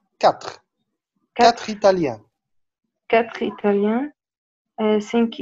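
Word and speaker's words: quatre: لا، مش كواتر، كاتر، كاتر ايطاليان، كاتر ايطاليان، سينك ايرلاندا، ايرلاندي، ايرلاندي، سيت اسبانيول، سيت، البي مش منطقه، سيت، سيت اسبانيول، نوف المون، نوف المون، نوف المون.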